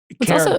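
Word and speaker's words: Karat: Carrot, by the way, spelled with a K.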